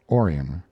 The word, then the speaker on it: Orion: a boy was born they named him orion after the constellation perhaps though they changed the accent to the first syllable calling it orion gainsborough was a small